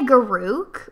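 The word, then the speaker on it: Garruk: I mean, I say Garouk, but you can say it wrong if you want.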